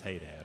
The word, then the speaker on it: Hadad: that all the buddy my last name is hey Dad all right you just get used to it